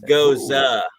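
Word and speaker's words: Gose: actually says right right here it's called it's pronounced goes uh goes uh it's a traditional german style beer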